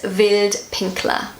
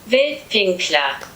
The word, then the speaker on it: Wildpinkler: And this word is Wildpinkler. So that's how I pronounce it. This is how Google pronounces it. Wildpinkler.